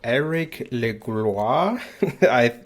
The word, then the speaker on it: Elric Legloire: Today I'm speaking to Elric Legloire. I think I totally messed that up, so you will have a chance to pronounce your name again. Welcome, Elric. Thanks, Aaron. And no, you pronounce it correctly, so thank you for doing Wow.